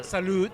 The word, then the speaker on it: salud: Salute with with the letter D in the end is Mexican. Salute with the letter T in the end is Italian.